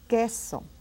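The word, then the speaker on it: queso: of those rules that you don't pronounce the U it is silent G what or which and then you don't hear that you right we don't say but small gesso it's cheese gesso so now that we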